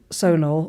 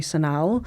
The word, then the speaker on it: Sonal: So she said, look, Sonal, although she also calls me Sonal.